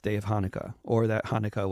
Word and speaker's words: Hanukkah: of Hanukkah or that Hanukkah was actually pronounced hania in Hebrew the youth Le presentation